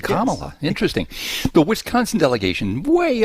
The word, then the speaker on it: Kamala: Wisconsin's Morning News morning Jim morning vce hey pronounced her name right he said Kamala interesting the Wisconsin delegation way up in the